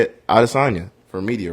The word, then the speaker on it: Adesanya: know izzy's real life the way the african pronunciation of his last name is addis sonia but he his manager came out said he wants people to say it out of sonya for media right so that's how if izzy